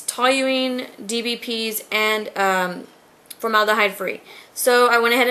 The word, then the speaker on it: toluene: And it's toluene. I can never pronounce it.